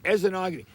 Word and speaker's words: Esnagi: How do you pronounce this lake? Esgami. Esogi. Esenogamy. The guy just corrected me. Esenogamy.